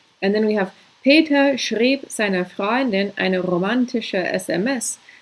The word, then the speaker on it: schrieb: So it's really easy to not notice the way that these the diphthong is changed, basically. So you have these two vowels pronounced together, and then they switch so that they're pronounced very differently from each other.